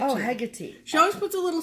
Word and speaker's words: Hecate: Hecate. Oh, Hecate.